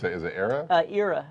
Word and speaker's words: Era: How do you pronounce it? Is it Era? Era.